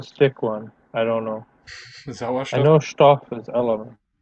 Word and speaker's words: Sauerstoff: Sie kollidieren mit den Sauerstoff- und Stickstoffatomen in der Luft und regen diese vorübergehend an. Remember not to pronounce that H as an H.